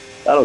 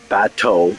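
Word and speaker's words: Bateaux: Battle Creek's fantastic. It's near Collingwood. Batau. Batau. B A T E U X. Not Battle.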